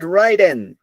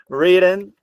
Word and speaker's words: written: has been what right them pronunciation please is not wrden WR WR written by her here a